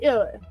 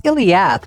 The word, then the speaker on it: Iliath: So, to answer Mom's question, this is Ilith. Well, it's Iliath, but you keep ignoring the middle syllable there.